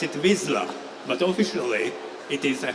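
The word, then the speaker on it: Vizsla: Hungarian and you know the character's name you pronounce it wisla but officially it is a Hungarian dog breed name called Visa it's a Hound so do you know anything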